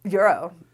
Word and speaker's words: gyro: Is it pronounced Gyro or Euro? Euro.